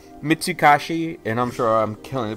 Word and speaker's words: Mitsukoshi: a mall it's a store I mean it's mitsuhashi and I'm sure I'm killing the pronunciation but basically it's a store chain based